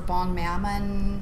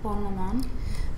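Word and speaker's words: Bonne Maman: And what I did, we at one time just had this thing for bon mammon. How do you say that? It's a French jam. Yeah, bon maman.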